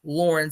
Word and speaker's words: Lauren: My name is androgynous. In pronunciation, at least, Lauren sounds like the more masculine Lauren.